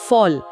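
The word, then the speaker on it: voll: वोगल यानी फोगेल और भरा हुआ को फॉल यानी फोल।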